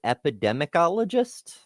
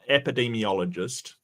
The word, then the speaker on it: epidemiologist: Epidemicologist? Oh, epidemiologist.